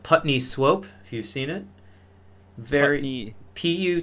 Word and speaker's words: Putney Swope: show a movie and the movie was called Putney Swope you've seen it very PU T and ey